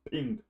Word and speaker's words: PNG: for the gif image format it pronounces is pronounced ping PNG is upper Ranch PNG pink it supports